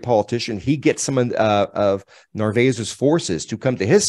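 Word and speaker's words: Narváez: I think it's how you say it, Narvaez.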